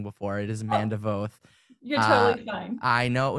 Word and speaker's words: Voth: And Manda, so sorry about getting your last name wrong before. It is Manda Voth.